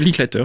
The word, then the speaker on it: Linklater: Alors c'est un film qui est réalisé par Richard Linklater, si je le prononce bien. Ouais, Linklater. Oui.